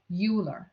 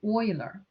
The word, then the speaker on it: Euler: Euler diagram is named after Euler, knowing it's not pronounced as Euler, is Euler.